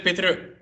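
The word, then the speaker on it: पितृ: How do you say pitr? R. Pitr. Like a motorcycle.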